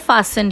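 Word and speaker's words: fastened: इसको बोलते हैं फास्टेंड. Here T is silent.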